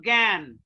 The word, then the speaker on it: জ্ঞান: যেমন জ্ঞান, এই যে যুক্ত বর্ণের পরে আকার আছে, অতএব এখানে কি এ হয়ে যাবে, এ জ্ঞান।